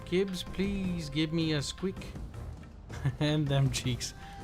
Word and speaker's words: SQEK: squeak and them cheeks gosh darn it profound's always mispronounced squeak or squeak it's pronounced key or it's spell sqek but i would say squeak because quick sounds and don't ask scandinavians because they say skik that sounds even stupider and thank you for